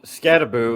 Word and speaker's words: Skattebo: So you mentioned Cam Skattebo, and I'm very proud of myself that I pronounced his name correctly, because I know that's the type of name that you can be butchered frequently.